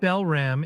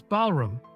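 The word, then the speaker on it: Balram: It's not Belram, it's Balum.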